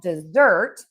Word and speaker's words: dessert: This is really about word stress. So, we have dessert, and we are going to stress syllable number two because we eat dessert at the end of a meal. And then we have desert, and that is sand, and that has one syllable, and so that is going to be stressed on syllable number one.